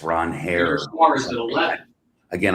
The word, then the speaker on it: Ranger: It's Ron Hare. Ranger Suarez at 11. Again, I've already said I'm not the $11 going twice.